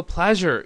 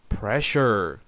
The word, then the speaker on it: pleasure: 자, 지금 이거 pleasure 이라고 하면 뭐예요? 아주 기쁜 일, 뭐 이런 거, 기분 좋은 거, 기쁨, 뭐 이런 뜻인데 이거를 잘못 발음해서 pressure 라고 이렇게 발음해버리면 이거 뭡니까? 압력, 압박, 뭐 이런 뜻이죠.